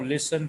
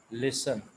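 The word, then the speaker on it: listen: तू मेरी बात सुनो लिसन टू मी क्लियर होता है आम बात हुई कारों में चली जा रही है गौर से सुनना लिस्ट अब इसमें 30 साइलेंट है तो हम इसको पड़ते हैं लिस्टन लिस्टन नहीं ले सका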